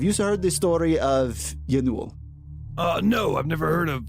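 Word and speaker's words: Ianuul: Have you heard the story of Yanul? No, I've never heard of Yanul. I bet it's spelled really crazy, though.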